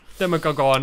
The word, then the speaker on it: Demogorgon: Demogorgon. I think that's the first time we've pronounced his name correctly, to be fair.